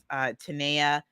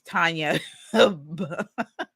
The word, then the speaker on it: Tanya: Literally because I'm in the LinkedIn Accelerator with Tanea. Tanea. Sorry, it is Tanya. Someone else's name, Tanea, with Tanya Bhattacharya. That's how you say her name.